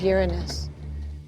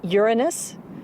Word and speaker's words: Uranus: pronounce the planet's name Uranus which is very likely closer to the original pronunciation of the name of the god after whom it was named if you think Uranus